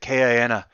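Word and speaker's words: KINA: to say it because it's pronounced when he says it kiana nice yeah it says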